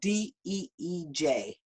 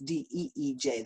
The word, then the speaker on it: DEEJ: If you want to look it up, it's spelled DEEJ, not DJ. It's DEEJ.